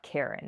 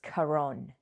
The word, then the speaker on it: Kharon: So, every time I pronounce his name, I have to think, "Okay, this is not Karen, it's Kharon."